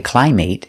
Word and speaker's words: climate: that are never verbs, so they're always pronounced with the short sound it. Example, climate. We never say climate, it's always climate, climate.